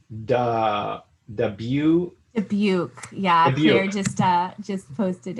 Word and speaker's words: Dubuque: So I think it's the view, Dubuque.